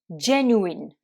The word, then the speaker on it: genuine: donc gen8 ne et qu'on va prononcer genuine genuine donc là vous accentué sur la première syllabe et ensuite le u se prononcent eux ou voilà j'espère que toutes